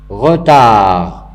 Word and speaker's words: retard: Retard, retard, il se termine avec T. Je ne prononce pas le T, mais je dois l'écrire.